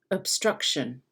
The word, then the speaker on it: obstruction: think about that obstruction obstruction can you hear how i don't even really pronounce the o instead of saying ob i say it's a bit muddy right and it's lower up